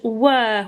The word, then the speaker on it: were: that says were were hear that beginning sound that's helping you here is wor and these three together are just making an er sound were we used to sing